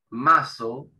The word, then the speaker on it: muscle: la S del final, se pronuncia muscle. Si lo tomamos solo a la palabra, como músculo solo sin la S del final, muscle, muscle. Esta C como que no se pronuncia en inglés, en esta palabra.